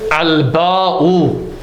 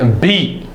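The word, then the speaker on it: الباء: Now note here that Ibn Wajarum, he said al-ba'u. He didn't say bi. Okay? Why? Because amongst the grammarians, if your harfu jarrin or harfu khafdin comprises of a single letter, then you pronounce the letter. Right? So you don't say bi.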